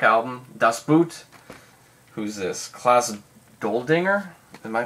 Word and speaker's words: Klaus Doldinger: Klaus Doldinger? Am I pronouncing that right?